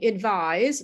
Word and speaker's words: advise: And the second one, advise, which is the verb, has an S in the spelling, but you pronounce it with a Z sound, or Z if you're not in the United States.